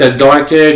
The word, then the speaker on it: Darkon: So my name is Darken, and I pronounce like D-A-R-K-O-N. It's supposed to pronounce like Darkon, but I pronounce it like a Darken, just like the pronounce the dragon, a Darken.